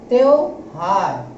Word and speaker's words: त्योहार: रहे हैं, जब इसका जब उच्चारण कर रहे हैं तो हम क्या बोल रहे हैं, त्यो, ओ आना चाहिए यहाँ पर। तो इसका करेक्ट क्या बन जाएगा त्योहार।